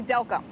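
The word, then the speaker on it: Delcambre: say i looked online and they pronounced it del cambre we spoke to the locals the locals say delco so i'm going to go with the locals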